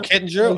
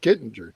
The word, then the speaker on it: Kittinger: Oh, Kitten. Oh, you mispronounced the name that you said. I'm sorry. I don't know what you said. So, I was hoping it was a different guy. Okay. Captain Joseph Kittinger.